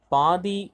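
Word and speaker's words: pi: Okay, இது எப்படி நம்ம ப்ரொனவுன்ஸ் பண்ணணும்? இப்படி இருக்கு இல்லையா, அது பேர் என்னது? பிஐ பை அப்படின்னு சொல்லணும்.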